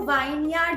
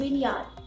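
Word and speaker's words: vineyard: आप पता है आधे टाइम तो क्या कह देते हो उसे, कहते हो वाइन यार्ड गए थे, बट वो वाइन यार्ड नहीं है, इट्स विन यार्ड।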